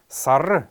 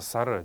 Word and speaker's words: сара: второе слово это слово sara sara sara правильно произносится она на калмыцком это месяц почему месяц называется сара дело в том что сейчас в современном разговорном языке очень часто говорят сар а я даже слышал